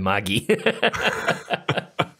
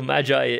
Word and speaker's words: Magi: him telling us once it's a hard G Latin doesn't have a soft G and the entire class promptly ignored him and said we're not going around talking about the Maggi so so Magi is so Matthew Chapter